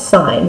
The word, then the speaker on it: sine: have to say sin it's not sin it's sign the actual word is si and E okay but we drop